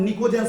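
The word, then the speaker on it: pnictogen: एक को कते देखो पी को नहीं पढ़ना है प साइलेंट है समझा इससे पहले भी एक बार लिखाया हु ग्रुप 15 को निकोजन बोलते हैं क्या बोलते हैं या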